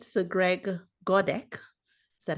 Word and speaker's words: Godek: So Greg Godek, is that how you say it?